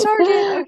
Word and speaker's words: Sargent: Like, I hope it's Sargent.